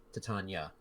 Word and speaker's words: Titania: Lomadhi, as he starts to head out, he looks back and he says, "Remember, Miss, what was it? Titania. Titania. I knew I was missing a syllable there.